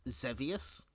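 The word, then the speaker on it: Xevious: I believe the game is pronounced Zevius, but Devious Zeus.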